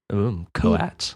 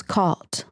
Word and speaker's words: coat: Cuz he wants to be like Ros's cot, Ros. And I'm like, "No, no, your mouth has to end like ooh ooh coat coat."